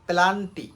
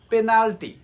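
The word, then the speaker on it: penalty: হয়েছে Messi পেনাল্টি miss করেছে পেনাল্টি ওকে আমরা উচ্চারণ করি কি পেলান্টি এই টাইপের কিছু একটা বলে থাকি শব্দটা হবে পেনাল্টি ওকে পলটিওয়াই পেনাল্টি নেক্স ক্রিশিয়ানো রোনালদো রাইট আমরা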